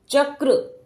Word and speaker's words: चक्र: की मात्रा लगी है इसको हम कैसा बोलेंगे आधा क छोटा क छोटी सी ध्वनि निकलेगी क की देखिए चक्र चक्र यह बच्चे को